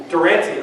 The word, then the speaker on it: Durante: Durante. I didn't expect everybody to know that. I'm just going to call him Jimmy from this point out, because Durante sounds like a hot sauce.